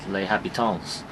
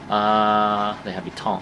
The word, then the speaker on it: Les Habitants: down the road, it's Les Habitants. Les Habitants, I think. You don't pronounce the S in French.